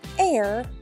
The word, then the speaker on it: heir: the h herbs herbs a person who inherits the throne from another person is called an heir to the throne you don't hear the H in that word all right we're going